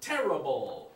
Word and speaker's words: terrible: Terrific. Second syllable, right? The other word, terrible.